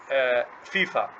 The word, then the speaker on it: FIFA: This is not initialism because we don't pronounce it or don't say it like FIF. We say FIFA.